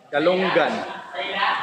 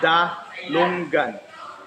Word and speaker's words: dalunggan: The ears, galunggan, dalunggan. But in Cebu, you're going to pronounce it dungan. You're going to drop the L.